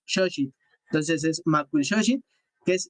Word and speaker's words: Xochitl: Hoy así lo pronuncian, Xochitl. La manera correcta es Xochitl.